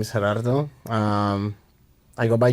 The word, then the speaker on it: Gerardo: Just if you can't roll your Rs just say. That's really how it started. It's just like as growing up everybody would put an L in my name and it's like Oh yeah.